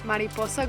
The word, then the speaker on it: Mariposa: We made it to Mariposa Grove, and that's how you say it, Mariposa Grove.